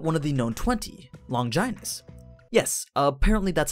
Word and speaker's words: Longinus: Let's try talking about one of the known 20, Longinus. Yes, apparently that's how you pronounce it.